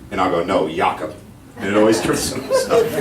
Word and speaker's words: Jakob: when you go now your name is spelled j-a-k-o-b but you pronounce it yaakov what's the worst your